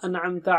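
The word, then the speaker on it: أَنْعَمْتَ: An'amta alayhim. An. Should be very clear. It's not anamta. It's not anamta. No. An-amta. So let us practice the syllables separately as per Tajweed tip number 3.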